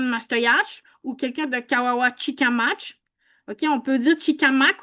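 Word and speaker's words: Kawawachikamach: Marilyn Gill, OK, ben, il y a l'intelligence artificielle de Google qui nous dit que ça se prononce bien Kawawachi Kamach.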